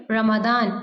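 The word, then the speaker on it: Ramadan: में रोजे रखते हैं रमजान में इंग्लिश में हम इसको क्या प्रोनाउंस करेंगे रमदान इन रमदान नाउ लेट्स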